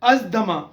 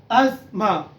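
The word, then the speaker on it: asthma: अज दमा यानी दमा जो होता है, इंसान को सांस चढ़ जाता है, तो अज दमा ये गलत है। करेक्ट इसकी प्रोनाउंसिएशन है अज मा, अज मा।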